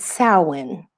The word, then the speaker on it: Samhain: I don't know how they get Samhain out of Samhain, but they pronounce it Samhain.